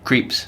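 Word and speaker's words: Krieps: film really played by Vicky how do you pronounce her name creeps creeps she's amazing and she's working in a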